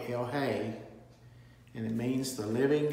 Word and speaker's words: El Chay: el hay or lj i've heard it pronounced two different ways it's i think it's probably hell hey and it means the